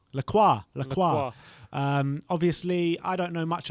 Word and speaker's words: Lacroix: The centre-back from Wolfsburg, Maxence, how you pronounce that? Lacroix? Lacroix.